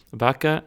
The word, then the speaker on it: vacii: Mașina vacii. Mașina vacii. And this should just be pronounced vac, right? Oh, what am I doing? Vaci. Vac, yes.